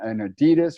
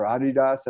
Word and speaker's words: Adidas: 20th century uh to compete with nike and adidas or adidas as you pronounce it uh and then um you know